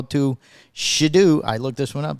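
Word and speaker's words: Shedeur: Controversy hits the NFL as the son of Falcons defensive coordinator made a fake draft night phone call to Shidu.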